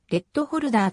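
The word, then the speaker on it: lead holder: して用いるなお英語表記ではれホールダーとなり発音はレッドホルダーとなる直径 2mm の神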